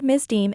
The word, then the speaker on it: misdeem: The word misdeem is pronounced misdeem.